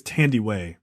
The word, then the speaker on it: Thandiwe: I think it's Thandiwe.